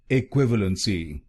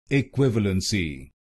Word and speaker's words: equivalency: इक्विवेलेंसी। इक्विवेलेंसी। और इस शब्द में आपको दूसरे शब्दांश पर जोर डालना है, इक्विवेलेंसी। इक्विवेलेंसी। अब आपको मालूम हो गया इस शब्द की सही प्रोनाउंसिएशन।